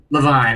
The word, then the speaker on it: Levine: I think I said it wrong last week. Levine.